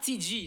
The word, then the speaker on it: Ti G: C'est Tig, c'est ça? TG, ça se prononce TG.